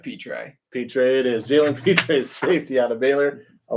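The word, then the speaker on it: Jalen Pitre: out of baylor jaylen cole how do you pronounce that last name feature peter it is jalen peters safety out of baylor i'll let you start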